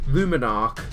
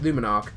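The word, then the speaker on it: Luminark: I knew I was going to mispronounce it on the video. I've been practicing it. Luminarch. That's it. Luminarch.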